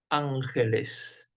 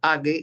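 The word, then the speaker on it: ἄγγελος: de de primer año la doble gama no se producía no se pronuncia ague sino Ángel doblegama para qué estamos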